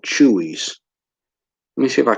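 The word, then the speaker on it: Chuy's: Have y'all ever eaten at a place called Chewy's? I think it's spelled Chueys, and they have burritos and a lot of Mexican food.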